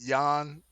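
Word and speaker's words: Yan: peter uh yeah because he has a spell with a j but we pronounce it yawn exactly just different different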